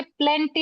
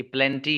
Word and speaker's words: plenty: हाँ ये आपका प्रोनाउंसिएशन सही है, ये प्लेंटी ही है। ये मैं इसको पेलेंटी, मुझसे मिस प्रोनाउंस हुआ वर्ड ये प्लेंटी सॉरी है। सर। हाँ प्लेंटी ही है बाबू, ये पेलेंटी नहीं है।